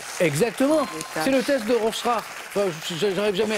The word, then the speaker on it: Rorschach: fait, si on doit le non, mais si on doit le prononcer vraiment, c'est Rorschach.